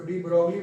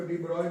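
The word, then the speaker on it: de Broglie: हो, डी ब्रोगली waves, इसको डी ब्रोगली वैसे इसको डी ब्रॉय बोला जाता है। आप लोग डी ब्रोगली पढ़े हुए, ठीक है, जो पढ़े बोलने पर क्या है, ऐसे डी ब्रॉय है उसका प्रोनाउंसिएशन एक्चुअली।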